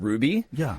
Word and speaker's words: RWBY: yeah what was that it's called Ruby but it's spelled weird it's like RWBY of course yeah and